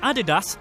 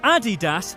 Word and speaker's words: Adidas: At least we say it correctly in England, but yeah. It looks like Adidas, though. It doesn't look like Adidas. There's no E in it.